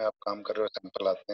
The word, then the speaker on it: HACCP: Fourth one is your हैसप, HACCP, इसको pronounce हैसप करना है, HACCP नहीं बोलना, हैसप।